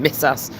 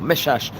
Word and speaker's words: Messas: You could pronounce his name various different ways. Some people will pronounce his name, Mesas or Mesash, but uh he came